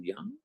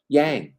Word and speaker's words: Yang: If the corporate folks wanted us to know, as Marty said yesterday, hello, Young, glad to see you. Did I say her name right? Yang. Oh, Yang.